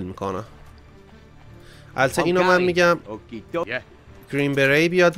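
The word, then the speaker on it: Green Beret: البته اینو من میگم گرین بری بیاد، بعد اینم ما گرین بری تلفظ میکنیم در صورتی که گرین بری یا گرین بری درسته. یعنی تش نوشته میشه ولی خونده نمیشه.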